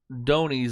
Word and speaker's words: dhonis: We have lots of Donies, I guess is how it's pronounced, DHONIS, which are called fishing boats out there.